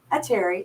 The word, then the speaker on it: Atiri: our guest Aaron and atiri is that how you say your last name a Terry a Terry okay just wanted to pronounce